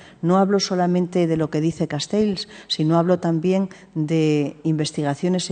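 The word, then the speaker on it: Castells: lo dice Castel castels Ayer estuve en Barcelona y me corrigieron me dijeron cómo se tenía que pronunciar Yo siempre digo castels Bueno pues castels eh lo que no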